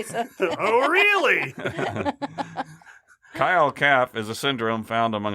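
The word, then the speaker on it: khyâl cap: spell it for you, it's K-H-Y-A-L-C-A-P, Kyle-Cap. It's also called wind attacks. No, Phil, not those kind of wind attacks. I see it in your face. You're about to say something. Oh, really? Kyle-Cap is a syndrome found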